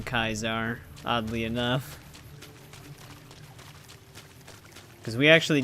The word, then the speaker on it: Caesar: extremely smart I mean even Caesar himself pronounces his name kaizar oddly enough because we